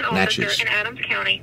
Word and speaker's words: Natchez: That's how you say it, Natchez.